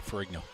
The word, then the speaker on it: Ferrigno: Oh yeah, I would go with Ferrigno. Okay. Like Lou Ferrigno.